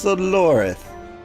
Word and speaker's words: solor: into play here rindra sorth salor no no no it's pronounced solor the final part is likely tricky for you humans it means hello in